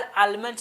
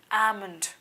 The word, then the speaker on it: almond: ये बजाज आलमंड नहीं है सर, इट्स आमंड। Spelling ALMOND। यहाँ पे एल है ज़रूर लेटर ए के बाद, फिर भी हम लोग आलमंड नहीं बोलेंगे, इसको क्या बोलते हैं? आमंड।